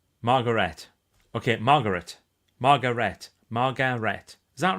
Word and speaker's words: Margaret: Margaret is pronounced Margaret.